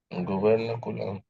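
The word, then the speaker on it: gubernaculum: हम लिख दे रहे हैं, अपना प्रोनाउंसिएशन कर ले। कूलर कूलर हाँ, क्या बोलते हैं? गवर्नकुलम।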